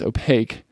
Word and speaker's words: opaque: opaque means that again it's opaque like a k sound at the end means not allowing any